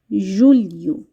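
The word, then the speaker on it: julho: June ইউ June ইউ জুলাই K Portuguese ভাষায় বলা হয়ে থাকে জুলি ইউ জুলি ইউ আগস্টকে Portuguese ভাষায় উচ্চারণ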